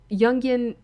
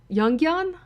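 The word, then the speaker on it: Jungian: criticisms of the Newtonian yungan yungan model of physics I know that's I you don't pronounce the J like that you pronounce as young it certainly does feel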